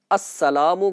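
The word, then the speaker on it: السلام: तरफ सलाम फेरते वक्त क्या कहना है अस सलाम कहना यह वाजिब है लिहाजा अब यहां मुकम्मल प्रोनाउंस इसका होना चाहिए मुकम्मल प्रोनंसिएशन के साथ इसको अदा किया जाए वरना बाज फिर वह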